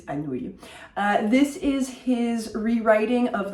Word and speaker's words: Anouilh: Antigone by Jean Anouilh, and yes, that is how you pronounce his name if you've ever wondered what to do with that particular collection of letters. It is Anouilh.